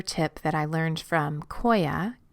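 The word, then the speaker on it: Qoya: that I learned from Koya which is spelled Q Oya which is a movement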